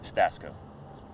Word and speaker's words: Stasko: How do you pronounce that? Stasko.